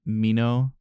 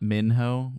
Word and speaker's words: Minho: do realize that uh Leno pronounces his name Mino and not Minho which is what I've been saying this whole time right so feel like